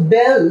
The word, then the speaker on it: belle: So, belle, this is to be pronounced as belle and this means a girl.